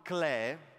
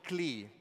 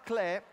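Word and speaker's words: Klee: il pittore e poeta Paul Clay che molti conoscono come Paul clee pronunciando il suo nome all'inglese anche se lui non era inglese ma era tedesco di madre Svizzera Beh Paul Clè ha scritto questo L'arte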